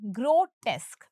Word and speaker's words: grotesque: Painful यानी दर्दनाक, एंड ग्रोटेस्क। अब देखिए सबसे पहले देखते हैं इसका प्रोनाउंसिएशन। ये है ग्रो, ये है टेस और ये है क। इसका क्या प्रोनाउंसिएशन है क्या? तो ये है ग्रोटेस्क, ग्रोटेस्क।